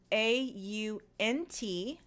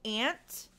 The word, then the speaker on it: aunt: in american english now some dialects in american english will say aunt instead of ant it depends on your regional dialect that you use some people will say ant some people will say